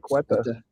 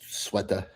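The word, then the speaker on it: Ceuta: We're going to go over Spain, Sueta, Spain, as I was corrected on how to pronounce it. Oh, really? I always called it Cueta. I did too. But it's Sueta.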